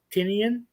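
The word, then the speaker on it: Tynion: to mess up the guy's name but james tinian is how you say his name yeah he's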